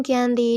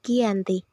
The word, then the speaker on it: Giyanti: Mengapa Giyanti? Mengapa tidak Janti? Karena dalam pelafalan Belanda dan tulisan tertulis serta terbaca sebagai Giyanti.